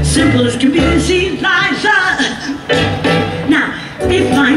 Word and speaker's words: Liza: But when you're Liza, you always have to say, no, it's Liza with a Z, not Lisa with an S.